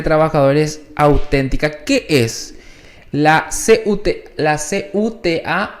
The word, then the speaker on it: CUT: ¿Qué es la CUTA o es CUT-AT? ¿Cómo lo pronuncian ustedes? CUT Auténtica.